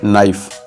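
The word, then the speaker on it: knife: English में कहते हैं नाइफ नाइफ यहां पर के प्रोनाउंस नहीं होगा नाइफ यानी चाकू कांटा इंग्लिश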